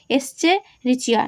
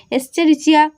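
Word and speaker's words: Escherichia: এস্চেরিচিয়া নামটা একটু উচ্চারণ করবে, এস্চেরিচিয়া কোলাই নামক ব্যাকটেরিয়া।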